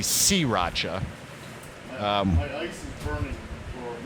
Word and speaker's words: sriracha: They say that people are saying sriracha, and I can see that, but I've never heard anybody say that. But they're saying it's supposed to be sriracha.